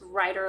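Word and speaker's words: Rider: spelled r-i-d-e-r dash w-a-i-t-e so it's writer like write a horse not write or like write a book i'm glad my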